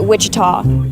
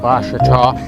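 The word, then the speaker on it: Ouachita: for wasita Baptist University back in Texas everybody pronounces it Witchita but really it's was wash was how would you pronounce it wash wash it's wash Baptist University get it right it's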